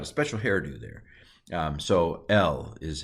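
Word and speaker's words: אל: So El is how this is pronounced.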